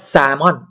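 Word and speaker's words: salmon: งง ก็ เขา อยาก แซลมอน มัน หาย ว่า 3 ม่อน 3 ม่อน นะ ครับ เพราะ ว่า เขา จะ ไม่ ออก เสียง ตัว L ประมาณ เนี่ย ประมาณ นี้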